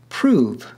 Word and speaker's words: prove: different from ours today prove for example was pronounced prov rhyming with love we see this rhyme